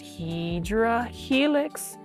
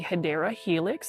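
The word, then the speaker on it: Hedera helix: And then you can even see right here, we've got our favorite, Hedra Helix, or the correct way to say it is the Hideera Helix.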